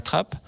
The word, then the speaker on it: Trappaz: comme vous l'avez rappelé c'est chèvrerie de la trappe ou de la trapasse ça dépend comment le prononce voilà alors chez nous on disait trap mais beaucoup de gens disent strapage on s'adapte Denis Pagnot